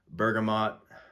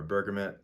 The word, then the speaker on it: bergamot: obviously, green mandarin, nutmeg, bergamot, or bergamot. I go back and forth between the two pronunciations.